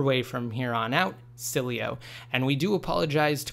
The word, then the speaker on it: Sileo: an absolutely fantastic name we're going to be pronouncing at the proper way from here on out Sileo and we do apologize to cool star and